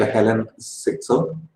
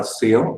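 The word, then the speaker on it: Hélène Cixous: I'm not getting into feminism or feminist philosophers like Helen Sixo or Seo, as her name is pronounced, then Lucy Irigaray and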